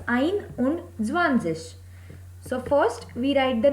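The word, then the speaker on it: einundzwanzig: Here again it is not Eins und Zwanzig, as one has the pronunciation of Eins, but as the rule says S and Z cannot be written together, so here also S has been eliminated, so the pronunciation and the spelling becomes Ein und Zwanzig.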